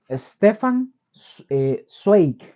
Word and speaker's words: Stefan Zweig: Hay otro escritor y biógrafo que se llamó, este sí es un poco más difícil de pronunciar, es Stefan Zweig.